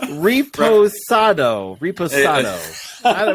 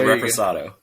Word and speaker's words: reposado: But the sinfully smooth Santo Blanco tequila and the oak-aged Santo Ado Reposado. Is that how you say it? Reese, come on, tell them how to say Reposado. it. It's a reposado.